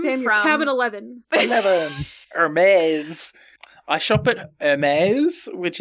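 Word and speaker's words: Hermès: And I was like, "Oh, Hermes. It's like this fancy brand." And they're like, "Why do you call it that?" And I'm like, "It's how they pronounce it on the Italian news channel, okay?"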